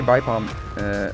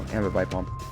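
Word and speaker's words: Ambipom: The thing about a Bipalm, or Ambibipalm, there we go, Ambibipalm. I always mispronounce it.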